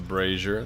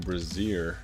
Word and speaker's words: Brazier: Light the Brazier. Thank you to Mr. Requiem for teaching me how to pronounce that. I was saying Brazier.